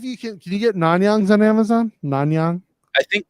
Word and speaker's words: Nanyang: two pounder i think we spelled it wrong nan yang right like i know that's how you say it but that's how you spell it n-a-n-y-a-n-g yeah it pulls up that just